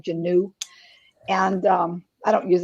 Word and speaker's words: Janae: name i mean it's it's spell says uh pronounced janae but j-a-n-u-e with a hyphen it sounds like genu and um i don't